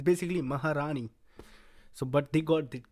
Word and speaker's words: Maharani: tell you as an Indian they got the pronunciation super good Maharani it's basically Maharani so but they got it good in the